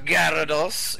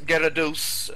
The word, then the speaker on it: Garados: right all right well good evening sir gravekeeper Gyarados garados I should say sorry for the mispronunciation there that's Gyarados I know I Pat